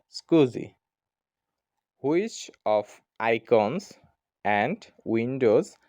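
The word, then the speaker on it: SCSI: computer system interface অথবা এসসিএসআই is pronounced S স্কুজি উত্তর হবে স্কুজি which of icons and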